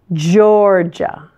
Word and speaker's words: Georgia: notice it's Florida Florida Georgia stress the first syllable again this word sounds quite similar to the name George and in English both of the g's here are pronounced with the hard just sound ja ja ja Georgia Hawaii most people's favorite